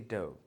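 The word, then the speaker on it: dough: GH जब किसी vowel के पीछे है और बिल्कुल किसी वर्ड के एंड में आ रहा हो, उस कंडीशन में मोस्टली ये साइलेंट रहता है। जैसे कि डव, क्या होता है डव?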